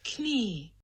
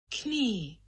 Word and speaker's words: knee: of latin and french the k just got dropped and people stopped pronouncing it so how do you